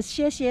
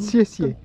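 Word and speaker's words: 谢谢: Ouais, c'est très bien prononcé, c'est siessie, c'est comme exactement comme... Siessie.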